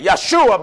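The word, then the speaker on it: ישוע: reason why they say yeshua because one there is no jays in the hebrew grammar joshua is pronounced in hebrew yeshua right yeshua is the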